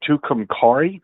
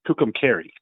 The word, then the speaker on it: Tucumcari: You called it Tucumcari. Yeah. And it's Tucumcari.